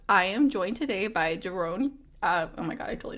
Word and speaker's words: Doron: So it took 57 years for people to pronounce my name correctly, because once they saw that, they're like, "Oh, Doron, Doron, Doron."